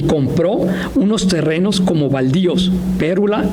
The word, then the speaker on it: Pérula: Existe una escritora de protocolización de propiedad de los terrenos de Pérula, con un acento en la U y no en la E, y Chamela, expedidos por